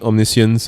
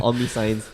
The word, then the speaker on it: omniscience: it's on the on the the yeah sneak omniscience and uh show and tell hybrid she i' I've been pronouncing it wrongly all this well not but